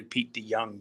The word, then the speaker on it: De Jong: a dutch name so the j in in holland is said like a y so it's actually p d young but close enough all